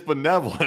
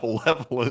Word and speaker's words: benevolent: It's like it's benevolent. It's not balevolent.